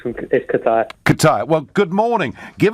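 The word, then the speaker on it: Kaitaia: Is that how I pronounce it, James? Yes, Nigel, yes. It's Kataya.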